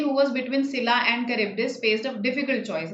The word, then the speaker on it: Charybdis: Was between Scylla and Charybdis. Yes, Charybdis. That's how it's pronounced. The H is silent.